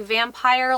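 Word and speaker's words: upyr: They had a different word for vampires in this, but like it wasn't like actual like vampire, like it was umpire. It was spelled U-P-Y-R, which actually is pronounced vampire.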